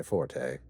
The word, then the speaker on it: forte: Cryptic warnings and subtle threats are not my forte. It's actually not pronounced forte, it's pronounced fort, but...